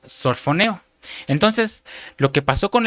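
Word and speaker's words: σωφρονέω: sana, que es la palabra G4993, que se pronuncia sorfoneo.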